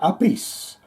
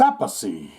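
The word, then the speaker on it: Appice: aathy or a piece some assholes in Shane's podcast will say uh dude you said it wrong it's a piece and some will say no it's aacy and then some will say no Vinnie calls himself Vinnie aacy Carmine calls himself GM a piece and the other guy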